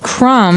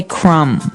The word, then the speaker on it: crumb: everyone that the word crumb has a B on the end. C R U M B. But we don't pronounce the B. We just say crumb.